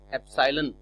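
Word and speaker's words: epsilon: जो alphabet use होता है ये कहलाता है एप्सिलॉन। तो आपको इसे पढ़ना और स्पेल करना, प्रोनाउंस करना आना चाहिए, एप्सिलॉन।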